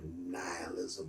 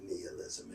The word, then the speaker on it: nihilism: But for me, in the modern context, the concept of nihilism or nihilism, it can be pronounced both ways, is first articulated most explicitly in the history of the Russian intelligentsia.